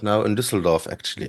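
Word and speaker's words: Düsseldorf: That's how it's pronounced, actually. Dusseldorf.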